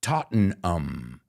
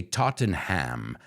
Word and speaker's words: Tottenham: we make this mistake I know in England they say Tottenham Tottenham but an American or a Spaniard would say Tottenham but that ham is